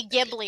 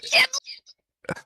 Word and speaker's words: Ghibli: You know that guy that cases when they say Ghibli, I'm like, it's Ghibli.